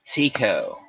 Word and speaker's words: Tycho: a bird pretty close so there's the magnificent tico crater that's how it should be pronounced isn't that ridiculous doesn't tico just sound just so silly but apparently that is what it is tico look at that though y'all this is one